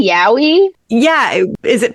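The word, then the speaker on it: yaoi: So the Californians pronounce it Yahweh, but it's Yowie.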